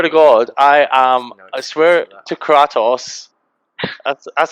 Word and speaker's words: Kratos: And I swear to God, I swear to Kratos. That's how you pronounce his name, isn't it? Kratos?